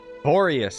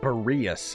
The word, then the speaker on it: Boreas: Rosaria told me that the Abyss Order is going after Boreas. But the Abyss Order and Boreas... What is the connection between them? Boreas, actually, not Boreas.